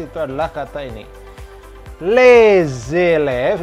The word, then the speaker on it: les élèves: Les élèves, ini dibacanya disambung. Seperti les alphabets di Z kan ya.